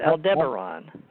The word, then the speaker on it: Aldebaran: how they say it, Aldebaran. I've heard it pronounced both ways. You may be that both ways are okay, depending on where you live in the world.